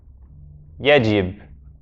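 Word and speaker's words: يجب: So now this ya is a ya. It's not just e.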